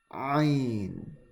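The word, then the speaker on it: ع: Ain. Okay, this is a very guttural sound. Okay, ain. This one has to come from the throat.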